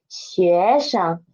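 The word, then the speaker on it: 学生: Last one is 学生 Sheng is the neutral tone. And because 学 is second tone and Sheng is after it, so Sheng's pitch should be lower than 学.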